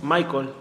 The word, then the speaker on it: Michael: Iván y Michael, ¿es Michael, así se pronuncia, o Michael? Michael.